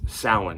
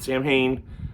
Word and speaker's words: Samhain: And then I'm gonna say it right this year because I got yelled at last year by a multitude of people. Samhain. It's Samhain, not Samhain.